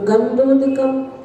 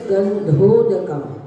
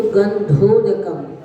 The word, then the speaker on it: गंधोदकम: मुक्तिश्री वनिता करोदक मिदम, और आगे नागेंद्र और त्रिदशेंद्र ऐसा न बोलकर नागेंद्र त्रिदशेंद्र चक्र पदवी, और गंधोदकम ऐसा उच्चारण न करके गंधोदकम धा का उच्चारण करना है।